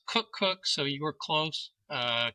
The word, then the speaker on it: Koekkoek: Uh, it's pronounced Cook Cookook, so you were close.